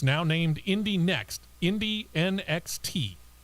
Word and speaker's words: Indy NXT: It's now named Indy Next, Indy NXT.